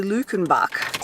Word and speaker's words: Luckenbach: And I heard someone say the name of the place is actually Luckenbach. So I was saying it phonetically right, but sometimes you got to hear the locals say it to know how it's really said.